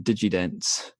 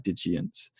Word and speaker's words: Digients: I was calling them Digidents in my head. Thankfully, no one was there to hear me mispronounce it. But then about halfway through, I was like, oh no, I'm I've been calling them Digimon. They're actually Digients.